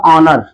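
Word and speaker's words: honour: इसका जो उच्चारण होगा वो क्या होगा? ऑनर। ऑनर तो देखिए इसका प्रथम ध्वनि का जो है हिंदी का स्वर वर्णमाला है यानी हिंदी के स्वर से स्टार्टिंग हो रही है।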